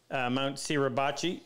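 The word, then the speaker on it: Suribachi: flag with the soldiers raising the flag on Mount Sirabachi. Did I pronounce that right, Luther? Yep, Sirabachi.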